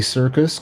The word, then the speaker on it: Syrcus: Okay, MSQ, the Syrcus but they don't spell it that way.